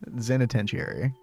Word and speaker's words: zenitentiary: I always forget a syllable in that. It's like penitentiary. Zenitentiary.